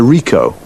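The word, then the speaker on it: Ricoh: It's a Rico. Rico. How do you spell that?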